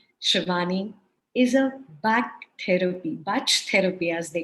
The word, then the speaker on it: Bach: amazing to read shavani is a back therapy batch therapy as they call it there are various renunciations for it it's spelled bach and she works on batch flower